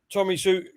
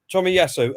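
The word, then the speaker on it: Tomiyasu: had are they what so you don't think tommy sue you uh tommy i just pronounced his name yes tommy yasso at the moment you don't think he's he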